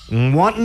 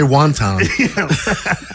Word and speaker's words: wanton: At least you didn't say wonton.